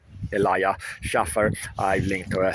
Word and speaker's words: Elijah: So this Kash Patel and the lawsuit against Elijah is how you pronounce his name, Elijah Schaffer.